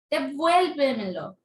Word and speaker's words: devuélvemelo: Vuel. devuélvemelo. Entonces está lo que es la palabra devuélvemelo, está la sílaba tónica, es tras antepenúltima. Tras antepenúltima, entonces decimos que es una sobresdrújula.